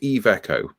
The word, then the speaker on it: Iveco: This is apparently it's pronounced Iveco.